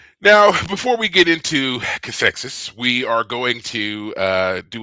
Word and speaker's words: Cathexis: the Voyager episode, and I believe it's pronounced Cathexis. Oh, I I have, like the way I said it. I was proud of myself just now. I was like, well, Cathesis, sorry to burst your bubble.